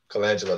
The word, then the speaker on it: Colangelo: Colangelo, that's how you say it.